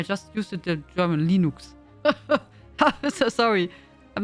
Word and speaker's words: Linux: me you say probably English you say also lenux or do you say l like question now how do you pronounce it in English I know I I just used it the German Linux so sorry I'm not sure how do you